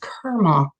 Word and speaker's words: karma: __ ] and mention karma to me which is actually pronounced kerma like kermit the frog and i'm so [